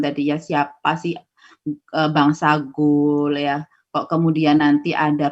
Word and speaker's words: Gaule: Ya, karena tulisannya Gaule, bacanya Gaul, jadi bukan Gaul. Karena tadi ada kunci, kalau A ketemu I dibaca apa tadi? A ketemu I dibaca? O. Bulat. Ya, makanya dibaca Gaul.